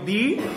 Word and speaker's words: the: তাহলে তুমি বলবা যে টি এইচ ই এর উচ্চারণ কখন হয় দি আর কখন হয় দা।